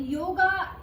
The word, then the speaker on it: योग: ये एक साउंड, अगर हम हिंदी और इंग्लिश को देखें तो योग, उसमें लास्ट में अ की साउंड आती है, जो अभी इंग्लिश की प्रोनाउंसिएशन है वो योगा हो चुका है।